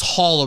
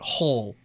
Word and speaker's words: Hull: So, Evan Hull here, rounding out I thought it was Hall originally, but Hull, Ull for him.